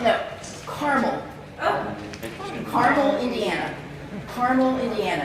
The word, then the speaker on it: Carmel: How would you pronounce the name of this town? See that? Carmel. No, Carmel.